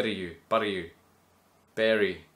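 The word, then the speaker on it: Bury: B you bu you Berry is it Berry bu it's spelled be Ur y somewhere near Manchester anyway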